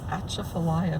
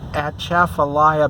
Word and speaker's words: Atchafalaya: yes it's called the atchafalaya basin that's at c h a a f a l y a something like that at chaffelaia that's kind of a cajun word pronunciation of i don't know